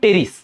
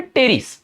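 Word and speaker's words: Pteris: এখানে কিন্তু উচ্চারণ হবে টেরিস। অনেকে পিটাকে উচ্চারণ করো। পি হবে না। এখানে পি এর উচ্চারণ উজ্জ। এটার নাম হবে টেরিস।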